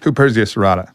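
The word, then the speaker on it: Huperzia serrata: but this Heria how do you say it h Persia serata yes so that's uh that works on the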